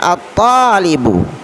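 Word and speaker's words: الطالب: Berikutnya at-talibu, ya, siswa, at-talibu. Kenapa langsung ke to membacanya? Karena to termasuk huruf Syamsiyah, tidak boleh dibaca al.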